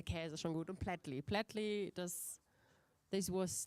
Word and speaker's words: Plättli: Shout out to the other kind of business plan judges who were offered the opportunity to enjoy a Swiss Plättli. I hope I pronounced it right.